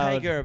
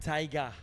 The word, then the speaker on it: taiga: It's not Taiga, but Taiga.